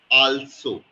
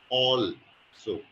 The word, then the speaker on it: also: that you said was alsoo a LS o okay it's not also is all so a l is all right yeah so also so